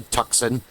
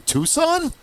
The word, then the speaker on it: Tucson: and how to pronounce You don't say tuxen. The first time I heard a far non-Amazonian say that, I was like, Tuxen? What do you mean Tucson?